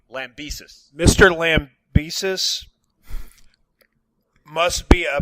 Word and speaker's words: Lambesis: Well, first of all, I'd like to say that, how do you pronounce his last name? Lambesis.